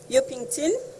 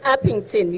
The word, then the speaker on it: Upington: the community of um yokington I'm not sure whether I'm pronouncing the area correctly it's upington yes yeah um maybe